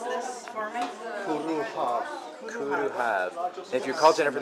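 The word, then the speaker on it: Cwrw Haf: Now, pronounce this for me. Kuruhav.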